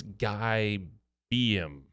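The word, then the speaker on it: Guy Beahm: It's Guy Beam.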